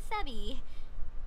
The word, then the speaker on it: Sebie: you just call me sebie sebie my nickname it's supposed to be a combination of Sarah and Abigail taking the first syllable SE from Sarah then the second syllable B from Ab Abigail but of course the